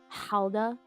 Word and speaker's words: Gouda: Howa good until you get that fat overload. Yeah, cuz guys it's not pronounced ga like b cheese.